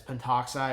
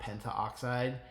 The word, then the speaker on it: pentoxide: I don't know why, but it's just known, like, historically speaking, that it's pentoxide and not pentaoxide.